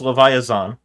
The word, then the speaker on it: Leviaxaan: as Zan okay well it's Leva Zan rather than rhymes with JN can I get the